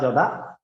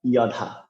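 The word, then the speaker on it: যদা: তো অন্তস্থ জকে আমরা বাংলার ক্ষেত্রে জর মতো উচ্চারণ করি, কিন্তু সংস্কৃত শ্লোক উচ্চারণে আমাদের একটু পরিবর্তন করতে হবে। যেমন সংস্কৃত শ্লোক উচ্চারণে অন্তস্থ জকে ইয় উচ্চারণ করতে হবে, আপনারা হয়তো সকলে স্ক্রিনে দেখতে পাচ্ছেন যে জ দোয়াকার ধা, অথবা অন্তস্থ জ দোয়াকার দা জদা। তো আমরা এটাকে উচ্চারণ করতে পারি ইয়ধা।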